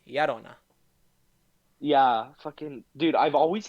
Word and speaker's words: Llorona: It's like, no, it's not Llorona, it's Yarona.